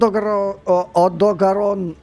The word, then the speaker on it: Odogaron: it looks like it came from OD odogaron yeah I said it right the first time from that monster I